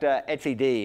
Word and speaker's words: etcd: So we looked at surf, we looked at console, we looked at, you pronounce it etcd, right? OK, that's the way I've always pronounced it.